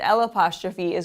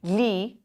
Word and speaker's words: gli: This sound of the li is going to come more from the back of your throat. So it sounds like li.